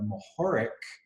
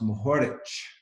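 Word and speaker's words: Mohorič: it yeah yeah so in Slovenian they use that to pronounce the letter differently so instead of mahic it's pronounced mahor Mich I like it that's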